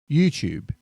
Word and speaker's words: YouTube: YouTube. Now this one's personal because I'm losing this battle with my own house. It's YouTube, like a tube, a cylinder.